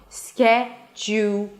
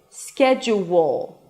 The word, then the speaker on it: schedule: schedule. Schedule. Schedule. Schedule. The last two syllables have to be really, really quick.